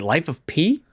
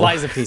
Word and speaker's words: Lies of P: Game of the Year landed on, what was it, Life of P last year? Not from anyone reputable. Lies of P, sorry, not Life of P. Lies of P. Life of P, you didn't say it right.